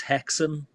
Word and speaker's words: Häxan: that I keep falling in hackson and it's pronounced hackson I'm reliably informed it's a Swedish film so